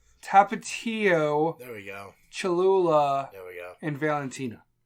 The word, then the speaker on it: Tapatio: My hot sauces were Tapito. Tapatio? Sure. Fucking pronounce it.